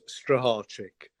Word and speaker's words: Strycharczyk: Poland it's uh it's a mouthful so it's pronounced strategic um my parents gave me or